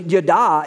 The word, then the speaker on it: yada: It's actually, yada is how it's pronounced in the original language.